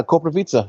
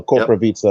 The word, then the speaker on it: Koprivica: it so it's like it's like you're saying pizza at the end of it but you're saying it with the v so corpora pizza is the correct pronunciation